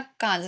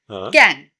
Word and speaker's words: Cannes: It's like a Pepsi can. Can. It's Cannes Lion.